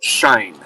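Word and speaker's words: Shein: know, ripped off by something like Teu or Shien or they're not made by a company who's pedaling them. It's pronounced shine.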